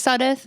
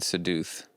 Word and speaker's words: Sudduth: my last name is Sudduth yeah so I think most people usually mispronounce it saying seduced yes I do this